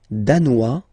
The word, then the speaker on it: danois: Le Danemark, danois, danoise. Zzz, hein? Okay, insist on that. Danois, don't pronounce the final S.